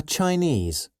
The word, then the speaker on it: Chinese: this dress go and which syllable all the words have the stress on ease Chinese Balinese okay now